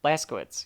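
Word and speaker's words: Blazkowicz: here in the Blas Blas you say their name wrong Blas ktz yeah like I said you got to think of it like a blast Blas ktz yeah you're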